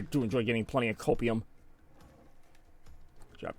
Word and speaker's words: copium: I do enjoy getting plenty of copium. Job. Copium. Rhymes with opium, but don't get those two confused.